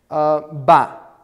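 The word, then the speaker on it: ביי: So you would expect it to be pronounced by, but most speakers say ba.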